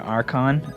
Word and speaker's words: Archon: especially since i think they both should be a hard c sound and they're both greek i think it should be taikon and arkhan which makes them sound like twins which they're not but uh i've already